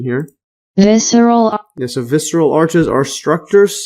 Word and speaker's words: visceral: Arches also known as visceral arches see the pronunciation here visceral so visceral arches are structures seen in the